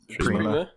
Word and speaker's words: Prima: Prima. Okay. Prima Games. See, I thought I fucked up. I'm getting self-conscious about shit. Prima Games, the veteran strategy guide company Prima Games,